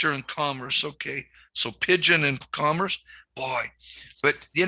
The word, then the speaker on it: Pigeon: name of your town pigeon just like the bird oh pigeon pigeon gotcha